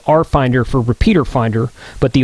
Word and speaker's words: RFinder: So it's spelled RFinder for repeater finder, but the RF is capitalized, so it's like a play on words, RF finder, but there's only one F.